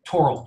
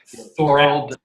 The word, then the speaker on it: Thorald: And you pronounce it Torald with a hard T, not Thorald. Exactly. It's certainly not Thorald.